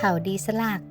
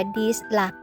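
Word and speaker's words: ดีสลัก: พา มา วัด เขา ดี สลัก จริง ๆ เรา อ่าน ว่า ดิสลัก นะ แต่ น้อง บอก พี่ มัน ชื่อ ดี สลัก ดู บรรยากาศ อยู่ บน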